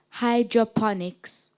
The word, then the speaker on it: hydroponics: language of origin of Hydroponics Greek am I pronouncing the word correctly Hydroponics yes that's fine Hydroponics h y d r